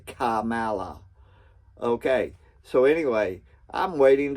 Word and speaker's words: Kamala: I think that might be what was then the vice president of the United States, Camala Harris. Yeah, I say her name like that because it starts with a K. Kamala.